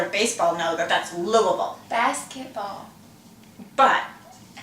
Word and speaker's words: Louisville: Now, I know, and most of you who enjoy the sport of baseball know that that's Louisville. Basketball. But it's spelled like Louisville.